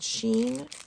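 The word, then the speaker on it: Shein: a clothing company online clothing company called sheen i think that's how you say it s h i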